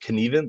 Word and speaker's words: Knueven: My last name is pronounced Knueven, like you can even say it.